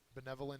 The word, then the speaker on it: benevolent: calm next is benevolent benevolent is an adjective second syllable is accented it means kindly or